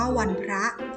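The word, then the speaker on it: วันพระ: ระหว่าง อะนะ วัน พอ รอ อะระ อ่าน ว่า วัน พระ วัน พระ มี ความ หมาย ว่า วัน ประชุม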